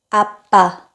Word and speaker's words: 아빠: 첫 번째 단어는 아빠입니다 아빠 아 아빠 파파 라는 영어 단어와 굉장히 비슷한 느낌이에요 아 우리 아빠는 매일